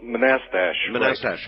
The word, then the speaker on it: Manassas: the stuff that's like hey wait a minute pronounce the name of your town Manchester oh oh Manassas that's right thank you uh and uh actually